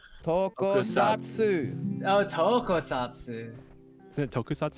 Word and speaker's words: Tokusatsu: It's not Tonkatsu. Tokusatsu.